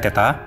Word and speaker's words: theta: Ini sinus theta, ini bacanya theta.